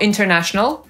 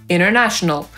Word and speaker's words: international: Po amerykańsku równie dobrze możemy powiedzieć interview, jak i interview, czyli wywiad albo rozmowa o pracę. Tak samo międzynarodowy to international albo international. Ważne jest to, że akcent w tym słowie nie pada na tę sylabę, która jest zaraz po tej zbitce NT. Tylko wtedy możemy to T po amerykańsku pominąć.